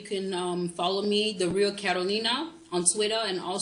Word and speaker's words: Karoli Naa: Am I pronouncing that correct? Yes, it's Karoli Naa.